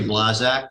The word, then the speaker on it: Blazak: It's Blazak. I'm a registered professional planner. My name is spelled B-L-A-Z-A-K.